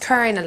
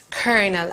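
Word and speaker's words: colonel: it is actually pronounced kernel I know it's spelled that way but it's pronounced kernel and um and she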